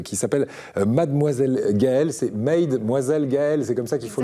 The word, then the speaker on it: Mademoiselle Gaëlle: C'est Mademoiselle Gaëlle, c'est comme ça qu'il faut le prononcer.